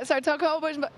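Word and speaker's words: 's-Hertogenbosch: You went to all the tennis destinations that are hard to pronounce. You went to Togenbosch, you went to all those places, right? Yeah, Sartogenbosch, you say it.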